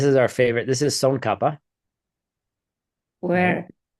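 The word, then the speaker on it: Tsongkhapa: This is son kapa. Where? Right. Oh, I'm sorry. I was highlighting the wrong thing. Uhhuh. That's son kapa.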